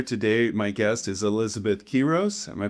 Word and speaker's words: Quiroz: My guest is Elizabeth Quiroz. Am I pronouncing that correctly?